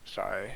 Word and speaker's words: Xi: Oh, it says it's pronounced Psy or Shy in English.